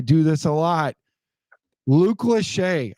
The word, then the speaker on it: Lachey: Luke Lachey. I kept saying his name wrong like all season long. I kept calling him Lachey because it's Lachey. And then I started watching tape on him.